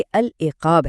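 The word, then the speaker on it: العقاب: तो कुरान में जो लफज़ बार-बार आता है वह परिंदा उकाब नहीं बल्कि अल इकाब है।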